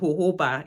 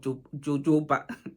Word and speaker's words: jojoba: of the sapl why why is it spell j o j o b a and you pronounce it um hoba instead of jooba anyway hoba it has